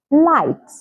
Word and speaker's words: light: silent we say hi light bright through through night night fight fight so can you see these examples have the G come right before the letter H but the g is silent so these are some